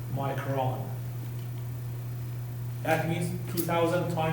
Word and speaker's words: micron: But because it's unique mass it's by itself is pronounced as micron rather than micro nothing micron. So when it's an intensifier when you say micrometer by unit you pronounce it as micro when it's by itself you pronounce it as micron.